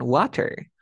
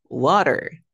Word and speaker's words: water: dos sonidos de vocales se encuentra entre dos sonidos de vocales lo pronuncio Como si fuese una r ya no me digan water dime water water water water vieron